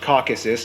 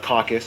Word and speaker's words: Caucasus: Nation located in the Caucasus region of Eurasia by the way it's pronounced Caucasus not caucus a caucus is when